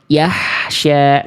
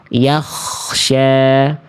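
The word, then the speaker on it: يخشى: Lalu kenapa yang C salah? Yahsya. Yang C kenapa salah? Ini Yahsya. Karena dibaca menjadi H besar ya. Atau ada yang bilang mengatakan H dada. Enggak apa-apa deh buat pintu awal. Enggak apa-apa. Jangan ya. Jangan jadi hak besar. Harusnya yang B yaksya.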